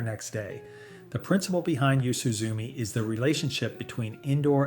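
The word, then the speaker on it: 夕涼み: This habit is called yusuzumi, pronounced yoo-soo-zoo-mee, and it's about more than enjoying the evening.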